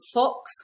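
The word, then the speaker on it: Phox: You can go for something called Fox, which is spelt P-H-O-X.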